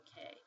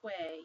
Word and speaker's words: que: But you don't pronounce it as que, you pronounce it as K.